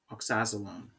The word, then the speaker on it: oxazolone: made this this guy's aromatic called oxazologenone oxazolone oxazolone that's the pronunciation don't care the issue is is that